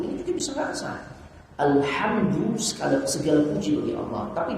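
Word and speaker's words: الحمد: Tapi kalau alhamdu dengan ha, kebinasaan bagi Allah.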